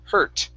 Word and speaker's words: hurt: uh this word uh the u r is an e r sound her hurt try that good good okay